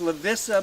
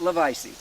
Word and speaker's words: Lavisa: um uh where uh her name was Lissa but they pronounced it levice levice it was Lissa Jordan it was pronounced levice Jordan all right she went